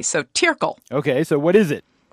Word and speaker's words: Tirggel: here Amy it's called turle turle tle t i r right t i r g g l but in Swiss German a double G is pronounced like a k so tile okay so what is